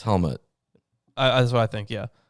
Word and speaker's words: Helmut: It's not helmet. It's Helmut. Helmut. Okay. I don't know if it's ut or ut. Is it spelled with a U-T? Yeah. Okay, well, how I'm guessing it would be, because it's German, I'm guessing. So it'd be Helmut, I'm guessing.